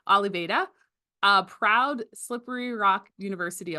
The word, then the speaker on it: Oliveira: sorry, he just taught me how to say his name, Oliveira, a proud Slippery Rock University alumnus, class of 2015, psychology major.